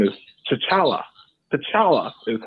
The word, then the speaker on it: T'Challa: T'Challa is how you would pronounce his name.